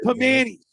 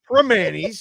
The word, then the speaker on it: Primanti's: How about Pamani's? It's Primanti's, if you're going to say it right.